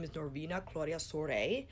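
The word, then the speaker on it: Soare: is davina Claudia soirée which is Romanian and I'm terribly sorry for butchering that accent and pronunciation I try to look it up online and it spelled SOA re4 you kind of hear the oh and the a at the same time not saying so RA but soiree it's actually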